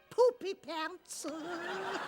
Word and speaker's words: Poopypants: i pronouncing it right poopy pants more or less except the emphasis is on the poop if we're talking heartfelt let me tell you about mr.